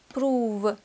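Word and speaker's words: prove: лава да в самом еще два слова исключения слова мува двигаться и прува доказывать здесь буква а у читается как долгий переходим к домашнему заданию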